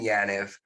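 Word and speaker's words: Yaniv: It came from an Ethan Yanev of Clear Result. Eitan is how he pronounces his name.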